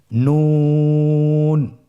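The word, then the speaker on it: ن: নুন হরফটি উচ্চারণের ক্ষেত্রে অবশ্যই পাতলা করে উচ্চারণ করতে হবে এবং 3 আলিফ টেনে পড়তে হবে। আপনারা আমার সাথে বলুন নুন।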